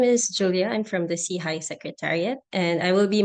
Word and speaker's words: SIHI: Innovation and health initiative SEI for short pronounced as as SE High which means upward and